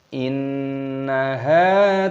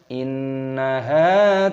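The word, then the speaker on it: إِنَّهَا: Perhatikan di sini ada nun tasdid, hukumnya dibaca gunnah. Cara membacanya itu didengungkan inna. Hanya dibaca panjang, ada tanda alifnya, panjangkan dua ketukan matobi'i, jangan dibaca panjang-panjang.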